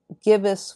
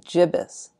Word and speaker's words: gibbous: just as an aside on the audiobook gibbous was pronounced gibbous this upset me a little as it meant I had to alter 30 years of HP Lovecraft in my head but I was pleased to discover that both pronunciations are used